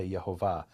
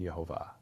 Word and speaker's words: Yehovah: But the way it was understood by Jews is Hayahoveh Hieh, he was, is, and is to come, was then the explanation of the pronunciation Yehovah.